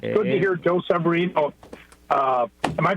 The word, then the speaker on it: Severino: It's good to hear Joe Severino. Am I pronouncing his name right? Severino, thank you.